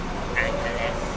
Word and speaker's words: Angeles: You pronounced it right. Yeah, Angeles.